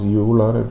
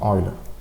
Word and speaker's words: Euler: Okay, it is not pronounced Euler, it's pronounced Euler.